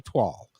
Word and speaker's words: toile: So I would spell it phonetically, which would be toile.